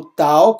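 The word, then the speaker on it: ταῦ: saúde por exemplo o tal como eu já expliquei não podemos confundir com o Tet teta é th tal é o t purinho de tatu de ter aqui o Y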